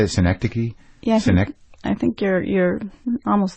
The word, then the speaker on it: Synecdoche: Synecdoche?